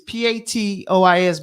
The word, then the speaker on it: patois: giveaways over here so the word is p-a-t-o-i-s but it's pronounced patois how'd you know that